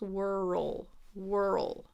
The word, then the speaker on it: whirl: It's making it almost more like two syllables. Whirl. Give it a whirl. So it's a little more dragged out than world, where it just kind of is all smushed in one sound. World versus whirl.